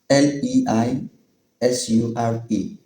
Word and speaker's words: leisure: Number eight, L E I S U R E. Brits pronounce it as leisure.